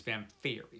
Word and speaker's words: Vamphyri: series necroscope to vampharie i think fam fairy is how you pronounce it i've seen this a couple times now on on booktube and everybody pronounces it different but i have it under good authority that it is vamp theory so that's what i'm calling it this that's what i'm